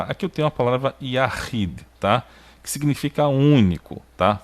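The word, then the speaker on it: יחיד: Depois a gente tem a Dalet com o som do D, tá? Então fica Yahid. E aqui está a sílaba tônica que eu marquei aqui, né?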